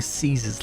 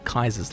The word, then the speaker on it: Caesar's: the card, fittingly mustering Caesar's Legion or Kaiser's Legion, depending on how you want to pronounce it.